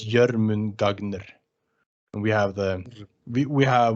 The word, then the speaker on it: Jörmungandr: I try to pronounce it just as it says here, it's the O with the 2 dots. It's Oh, sure. yeah, so it's Jörmungandr, and we have we have more like sharp letters, you know.